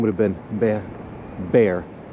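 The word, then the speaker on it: Béxar: name would have been bear which is pronounced b-e-a-r even though it's spelled b-e-x-a-r it's an accent over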